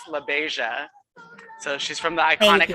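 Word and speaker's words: LaBeija: me so she's from so her name is pronounced labaisia so she's from the iconic house of la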